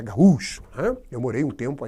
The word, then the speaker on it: gaúcho: Na verdade, a pronúncia não é... Aí o gaúcho aí, ó, não é gaúcho, né? É gaúcho.